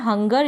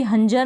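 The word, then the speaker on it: hunger: फिर यह है हंगर। इसको भी हंजर नहीं पढ़ेंगे।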